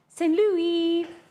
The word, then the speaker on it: St. Louis: St. Louis.